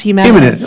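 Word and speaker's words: Jiménez: Well, it's Spanish, so it's pronounced Jimenez. Jimenez, okay.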